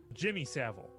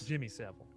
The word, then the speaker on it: Jimmy Savile: kid rape henry what's his name jeremy seville jimmy savile i was close jimmy several jimmy savile like i said he kind of